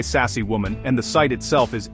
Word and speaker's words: Sacsayhuaman: The name is fun to pronounce, try sassy woman, and the site itself is absolutely breathtaking.